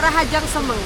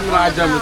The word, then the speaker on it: Rahajeng semeng: Balinese like: "Rahajeng semeng!" (Good morning) Ra-ha-jeng semeng! (Good morning: Balinese) Rahajeng semeng, okay! Okay, Rahajeng semeng (good morning) everyone! Rahajeng semeng (Good morning!) Yes, Rahajeng semeng (Good morning!) No, not Rahajemus, okay.